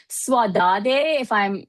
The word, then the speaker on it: saudade: kind of takes me to this sense of saudade. If I'm actually like pronouncing it correctly, I apologize if I'm Saudade, not.